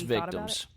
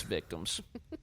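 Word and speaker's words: VCTMS: victims but no i it's just vct ms um are you sure that's what it's supposed to pronounce um they're it's victims it's victims that's a trend like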